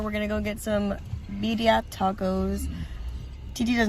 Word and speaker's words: birria: We're gonna go get some birria tacos. TT does not know how to pronounce the double R's, but it's technically double L's. Birria. Say it. Birria.